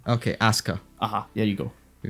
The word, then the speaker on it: Asuka: Shinji yep we got ASA ASA I basically said that no you're putting too much emphasis on the the U part it's just asaa ASA